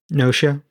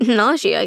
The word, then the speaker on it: Gnosia: Well, you know, we've been watching uh how do you pronounce it? Noia. Yeah, I'm like nausea, guys.